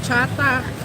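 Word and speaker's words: trà: Actually, the way they pronounce cha here, it's the same way Filipinos pronounce tea. We call our tea cha.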